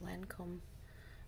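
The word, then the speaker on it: Lancôme: Okay, so I'm going to be using this Lancome Eyelash Booster.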